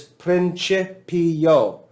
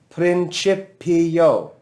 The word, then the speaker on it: principio: me pronounce this word you'll hear me put the accent over the second syllable principio right so it's